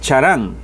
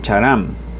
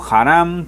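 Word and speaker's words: חרם: chato en idioma hebreo es es charam así como se oye charam Okay es la palabra hebrea h27 63 charam o Haram también se escribe de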